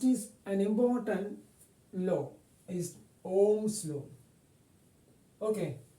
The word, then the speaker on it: Ohm: Next is an important law is Ohm's law. Okay, there is no pronunciation this H.